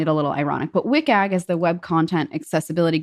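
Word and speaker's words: WCAG: The first is wikag. First of all, there are a lot of acronyms How do you pronounce it in regards to or is that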